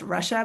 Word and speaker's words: Rusha: My name is actually pronounced Russia, but it's not spelled properly. So Russia. Russia. But I'm used to being helps. called Rusha too, so don't worry.